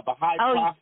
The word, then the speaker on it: Baha'i: mary was from baha'u'llah who's a baha'i is that how you say it yes i mean it's funny